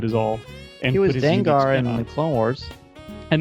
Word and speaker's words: Dengar: My biggest issue around this whole thing has nothing to do with him being in it, but the fact that Dengar is pronounced Dengar. Why isn't he pronounced Danger?